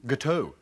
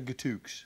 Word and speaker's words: gâteau: Gâteau? Yeah. Oh, I see, right. Yeah, the X is silent. I thought with your French-Canadian connection, you would have known that. Gâteau. So it's gâteau as opposed to gâteauks.